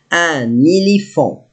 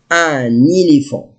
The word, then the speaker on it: un éléphant: Now, sometimes I say un and sometimes I say an because I have n and the vowel, so I must pronounce it. Un éléphant.